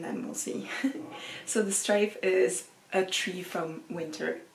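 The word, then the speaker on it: straif: And I'm going to translate in English because the book is in French, but the way that you say it in Old Gaelic is strife, which also has this word of, you know, strife, having a fight, having a conflict with someone.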